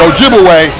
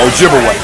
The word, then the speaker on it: Ojibwe: twice and of course they corrupted the pronunciation of those Ojibwe people to Chippewa absolutely so Chippewa and Ojibwe that's the same people wise the European Corruption of their real name Ojibwe okay so they begin